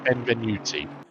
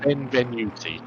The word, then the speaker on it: Benvenuti: So you pronounce the name Benvenuti. It is as it is spelled, if this helps your commentary. Thank you very much. So it's Benvenuti.